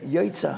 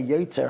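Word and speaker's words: יוצר: Now he said, Yoitza ha'ma'orais. That really means that we thank Hashem, He created the luminaries. But many people say Yoitzer ha'ma'orais.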